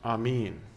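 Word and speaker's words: אמן: end prayers with like it's a Hebrew word and it's probably more accurately pronounced Amin it's three Hebrew letters and you know Hebrew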